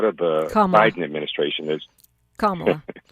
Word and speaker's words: Kamala: And so, Kamala was a part of the Biden administration as Kamala. It rhymes with mom. Kamala. Rhymes with small.